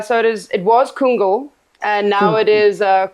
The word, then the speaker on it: Kungl: it now uh so it is it was kungl and now it is uh kungo fer Linda